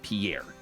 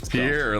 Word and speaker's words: Pierre: Yeah, Pier. That's how they say it.